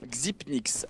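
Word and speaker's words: Xyp9x: Et voilà, le 9 égale Nin et du coup Xipnix.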